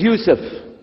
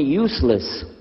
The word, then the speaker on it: Yusuf: itah my name is Yousef can you say Yousef you say Yousef you're very good I wish you teach my wife she keeps mispronouncing it she calls me useless hamdulillah now how many